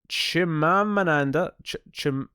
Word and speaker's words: Chimamanda: Chimamanda. There's an extra M in there. There's an extra syllable that I'm having a hard time fitting in.